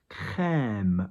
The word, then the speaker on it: crème: That means the E is longer. Crème as opposed to crème. Okay? But it's still a high E.